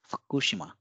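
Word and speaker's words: 福島: So we have to devoice this U and just say Fukushima. So it is Fukushima.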